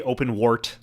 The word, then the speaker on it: OpenWrt: It is said like WRT like the acronym.